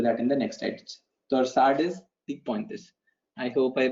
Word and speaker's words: torsades de pointes: Torsade de Pointe. So this is a French word. In French, you would call it torsade. S is silent because any last letter of any word becomes silent.